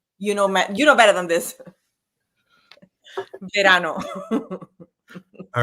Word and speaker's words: verano: So, and you have to roll your R's. Don't give me the Verano. Verano. You know better than this. Verano.